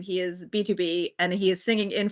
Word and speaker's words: BTOB: He is B2B and he is singing in falsetto, and he's singing a cover of that song, and it is amazing to watch.